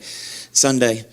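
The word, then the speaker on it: Sonday: how they pronounce it rhymes with Monday Sunday Learning System yes it's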